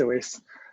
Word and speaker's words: Awais: Awais? You have a question about progress and stagnation. Yeah, thanks. You pronounced it correctly. It's Awais.